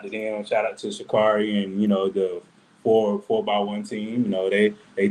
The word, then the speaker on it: Sha'Carri: Shout out to Shakari and, the 4x1 team. They took that thing home. So, She said her name is pronounced Sha'Carri. I didn't know that. Sha'Carri.